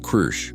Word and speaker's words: Kru: "This one is called Kru," he pronounced it with a rolling growl that her translator struggled to copy.